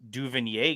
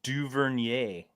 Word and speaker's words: Duvernay: uh duvinier guy though you really uh you really really butchered that do you want a couple more attempts you talked about the you talk to him yay is it French no yeah Devin duvernier I snagged him from